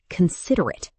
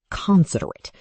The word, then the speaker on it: considerate: For example, considerate has stress on sid, not on the first syllable. Teachers can make this playful. Say a word with the wrong stress, such as considerate.